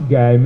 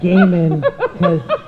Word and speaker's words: Gaiman: it's I not Actually pronounced Guyman. You got it. He'll tell you that it's Gaiman because he's a writer and it's his name.